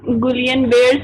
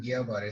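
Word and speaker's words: Guillain-Barré: और गुलियन बेयर syndrome. Boolean बेयर syndrome. अच्छा, इसमें ना डबल एल साइलेंट है तो इसको हम गिया बारे सिंड्रोम कहते हैं, ठीक है?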